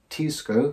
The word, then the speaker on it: Teisco: by a japanese company called tisco i think that's the correct pronunciation probably isn't but anyway these were being